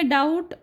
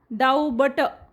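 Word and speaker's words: doubt: जसं इथं बी आता बी मध्ये डाऊट डाऊट म्हणतो आपण डाऊबट असं नाही म्हणत डाऊट आता तसंच कोंब आपण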